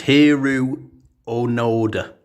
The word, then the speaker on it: Hiroo Onoda: go and yep yeah I actually pronounced his name wrong there it's heru onod I'm not very good at pronouncing for names